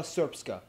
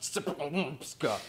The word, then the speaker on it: Srpska: Essentially, Bosnia and Herzegovina is divided into the Federation of Bosnia and Herzegovina and the Republika Srpska. I know, it looks like it's pronounced Srpska.